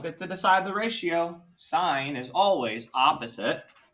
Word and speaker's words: sine: i have to use sine sine not so not sin sine okay so the sine of 26 degrees equals i don't get to decide the ratio sine is always opposite x over hypotenuse 14.